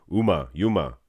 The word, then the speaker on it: Juma: I think the J is silent. I think it's Yuma, not Uma Thurman.